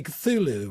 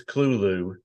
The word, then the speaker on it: Cthulhu: Oh, somebody commented said, "Oh, it's a nice song, but you pronounce Cthulhu wrong." Because I think most people say Cthulhu, right? Well, if you let talk to Josie, it's Clulu, but I think it's more guttural.